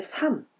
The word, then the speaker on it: 삶: 만나지 5 인가 우리의 삶 이 삶은 그냥 발음 조심해야 겠지요 흐름은 발음 있어요 그러면 뒤에 잇는거 뒤에 있는 것만 발음 해요 그래서 우리의 삶 삶의